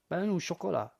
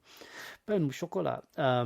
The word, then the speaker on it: pain au chocolat: This will be in the show notes, how to pronounce pain au chocolat. Pain au chocolat. Pain au chocolat.